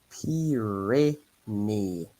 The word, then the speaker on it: Pyrénées: need to remember that a Y is the equivalent to two I's, and an I in French is E.